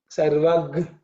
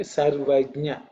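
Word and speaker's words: सर्वज्ञ: Again, this Sarvajna is pronounced multiple ways by people. Sometimes we use G, Sarvagnya. Some people use Sarvagya, Sarvagya. Some people even say Sarvadya. But it is Ij, Nya, Ijnya. Okay, Sarvajnya.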